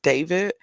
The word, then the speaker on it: D4vd: that his name is David, but his name is spelled D4 like the number four DVD.